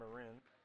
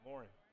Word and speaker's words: Morin: That was called on number 3, Megan Marin. Thank you. I've been mispronouncing her name, Megan Morin.